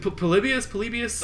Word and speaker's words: Polybius: Is it Polybius? Oh, that's how it's pronounced.